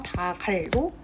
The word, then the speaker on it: 닭을: 닭을 단독으로 발음하면 기역으로 발음이 되죠. 이 상태에서 기역을 뒤로 넘기는 거예요, 연음해서. 그래서 다갈로 발음을 해주어야 합니다.